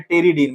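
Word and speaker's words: pteridine: है जिसका नाम है टेरिडीन। मैं यहाँ लिख दे रहा हूं, यहाँ लिख देता हूं मैं। ये देखिए पी इसमें साइलेंट है, उसके लिए एक टर्म आता है टेरिडीन।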